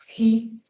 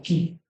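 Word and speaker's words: ji: Upsilon, después Phi, la F, Hi, que es como si fuera la X, ¿no? Pero se pronuncia como una J. De hecho, en inglés esto es lo que muchos pronuncian como ki.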